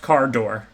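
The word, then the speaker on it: Kardur: It's pronounced Cardor.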